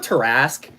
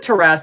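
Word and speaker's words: Tarrasque: an igloo with tarasque I feel like teras is the right way to pronounce it I don't think they have any pronunciation guides in the monster manuals far as I can tell but I'm pretty sure it's teras stream is fun it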